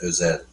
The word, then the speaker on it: Özel: It's Evren Özel. Ozel. Would be correct Turkish pronunciation, but this is an Americanization of his name, So which is probably how he says it.